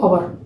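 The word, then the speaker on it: hour: 2 घंटे यानी 2 आवर। ठीक है, अगर के अंदर एच साइलेंट है तो यानी सी has been studying for 2 आवर्स, 2 घंटे से अध्ययन कर रही है।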